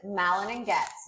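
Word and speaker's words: Malin+Goetz: I can tell you how to say the name. Period. Tell us. It is Malin and Goetz.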